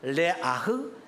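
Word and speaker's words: ריח ניחוח: 히브리어로 레아흐니아흐라고 말합니다.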